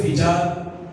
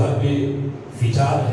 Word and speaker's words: حرب فجار: واقعہ پیش آیا۔ حرب فجار اکثر اس کو بولتے ہوئے فجار کہہ دیتے ہیں، تو اس کا صحیح جو تلفظ ہے وہ حرب فجار ہے۔ فجار قتال کے وزن پر اسے حرب فجار، یہ